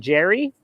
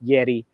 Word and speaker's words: Yerry: He calls him Jerry. Jerry Mina? That's his cousin. He's out, but Yeah, Yerry right. Mina might be in. Of course, in South America, anyone named Jerry, it's pronounced Yeri.